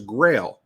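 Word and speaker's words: Grayl: stuff on your podcast close was Grail but it's spelled g r a y l and it is an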